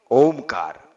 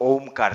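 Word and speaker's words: ओंकार: ओमकार से ही है तो ओमकार में ओ नहीं है अपितु अ उ म है और उसका उच्चारण कैसे करना है वह जरा देख लीजिए आ ओ ओमकार का प्रारंभ मुख से होगा जीरो की तरह मुख को बनाकर अ का शुरुआत होगी और अंतिम चरण म नासिका से पूर्ण होगा फिर से एक बात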